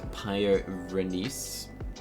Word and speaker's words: Pyrenees: A great pyrenees. That's how you pronounce it.